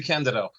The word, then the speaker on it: DeCandido: By the way, it's pronounced Dandido.